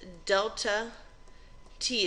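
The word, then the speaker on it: ΔT: the change in so Triangle T is says delta T is how you say it and it means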